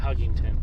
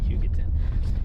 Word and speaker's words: Hugoton: How do you pronounce it? Not Huggington. Hugoton.